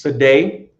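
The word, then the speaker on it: sadeh: right that's in the in the ancient Hebrew and the Assyrian and the in the modern uh Hebrew language is pronounced as Sade or Sade right where one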